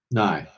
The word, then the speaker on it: Nye: Oliver and you got to help me pronounce his last name. Nye.